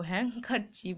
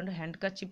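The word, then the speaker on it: handkerchief: ভালো করে এটা বোঝো হ্যাংকার চিপ হলো হ্যাংকার চিপ উচ্চ হ্যান্ডকার চিপ তো নয় হ্যাংকার চিপ হলো রুমাল জাতীয়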